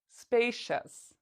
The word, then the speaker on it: spacious: hear see us or do you hear shus spacious again the answer is the second one we pronounce c-i-o-u-s as chess so what is the